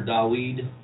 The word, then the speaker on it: David: of course this is king david or da weed some preferred pronounce it and more of the hebrew of wordage already some